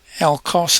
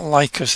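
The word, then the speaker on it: LCARS: And it's a Star Trek LCOS, I think you pronounce it. It's not Lycos, it's LCOS styling.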